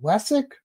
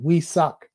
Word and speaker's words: Wessuc: and i'm always asked how do you say it is it wessex but you all want to know is that we suck we'll answer to each one they both work but uh back in